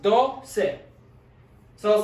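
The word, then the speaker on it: doce: of the ending c e this one is pronounced do se so i was like the number two in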